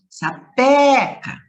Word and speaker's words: sapeca: Vocês perceberam que eu pronunciei o pé com mais forte? Sapeca. Então, o pé é a sílaba tônica.